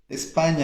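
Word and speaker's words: España: Ela se escreve com NH em português. Em espanhol se escreve com N, ok? Mas a pronúncia é a mesma. Espanha, português. Espanha em espanhol.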